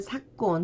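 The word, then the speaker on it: 昨今: 작금 할 때는 사콘 해서 원래는 사쿠인데 뒤에 오는 발음에 의해서 초금이 됐고 그리고 작년 이건 그대로 사쿠넨으로 발음을 해줍니다.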